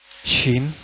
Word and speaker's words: shin: Shin.